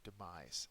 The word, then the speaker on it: demise: goes with the word demise uh is a noun the second syllable is accented it is a death